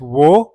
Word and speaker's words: を: It really depends on what you are trying to say. The sixth particle is o, although it is pronounced as wo, but when paired with a noun, the sound changes to o.